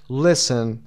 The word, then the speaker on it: listen: صدای تی تلفظ نمیشه در اینجا. حرف تی تلفظ نمیشه. استرسشم روی لیست گذاشته. Listen.